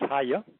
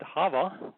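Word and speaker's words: היה: And although they pronounce it Hava, once again they've inserted a V where there is no such thing as a V.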